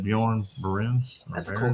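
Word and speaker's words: Björn Barends: Because I don't necessarily know how to pronounce it. Bjorn Berens.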